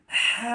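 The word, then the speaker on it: ح: ওয়াবারাকাতুহু আজকে আমরা এই ভিডিওর মাধ্যমে আলোচনা করব হা হরফ নিয়ে অর্থাৎ হাচ্ছে আরবি হরফের ছয় নম্বর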